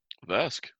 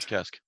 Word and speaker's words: Kesk: Vesk. Or Kesk. I'm sorry, Kesk. Sorry, dude. It's pronounced with a silent V.